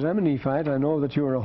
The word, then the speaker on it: Nephi: way you want well some like nephi if i would be neppy you notice i don't spell it with an f because it's not enough it's two separate letters means my lord is nephe it means my lord